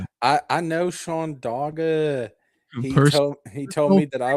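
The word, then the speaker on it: Dagher: Wizard knows Shawn Dagger. I do. And also it's it's it's spelled dog her. D A G H E R. Um but I I know Sean Doga he told me that I was of the channel.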